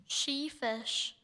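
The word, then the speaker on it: sheefish: Sheish.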